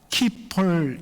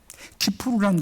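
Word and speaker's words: כיפור: 뜻합니다 그리고 우리가 보통 미국식 영어로 저스펠링을 읽으니까 키폴 이렇게 발음합니다만 사실은 히브리어입니다 히브리어를이 알파벳으로 표기한 것이죠 그래서 정확한 발음은 기프로입니다 키프로라는 것은 덥다 속죄하다라는 뜻입니다 여러분 7월 10일 계속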